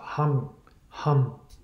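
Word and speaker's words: Ham: it's it's pronounced it with an NG even if you close the mouth hum hum so that is only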